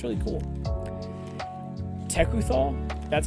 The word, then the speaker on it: Tekuthal: Tekuthal, that's how you pronounce it, the Inquiry Dominus.